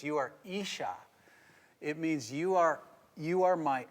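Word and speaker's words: אִשָּׁה: And it's kind of spelled like Isa, but it's Isha. That's how you say it.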